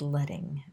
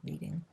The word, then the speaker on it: leading: which we call the leading and that comes from the strips of lead that were used to be put in type that was used in presses so it's pronounced 'ledding' not 'leeding' the space between groups